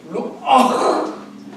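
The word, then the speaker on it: רוח: 히브리어는 이것을 루아흐. 히브리어는 이 발음이 가래 끓는 소리가 나거든요.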